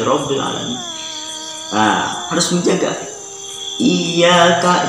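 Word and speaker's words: إِيَّاكَ: Iyyaka, jangan menghilangkan tasdid. Jangan dibaca iyyaka aja, tetapi iyyaka harus ada tasdid Fatihah.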